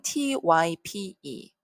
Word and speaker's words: type: 자, 처음에 나온 단어는 type. 그러면 여러분 그 규칙대로 읽으면 어떻게 되겠어요? e는 소리가 나지 않고 y는 i로. 그러면 t, I, 이렇게 되겠죠. 자, 블렌딩 해볼까요? t, I, type, type, type.